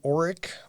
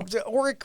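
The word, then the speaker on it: Orrick: where are you originally from uh i'm from oreck missouri that's o-r-r-i-c-k it's not spelled like the vacuum uh it's a town of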